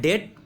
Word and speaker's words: debt: DEBT, इसका उच्चारण होता है डेट, बी यहाँ पे साइलेंट है।